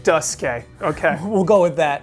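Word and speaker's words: Duscae: Okay, first of all, the official Final Bosman pronunciation is Duske. Duske.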